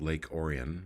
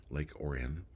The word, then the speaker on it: Lake Orion: Orion but you know it's Michigan so they pronounce it Oran Lake Oran and um tonight's show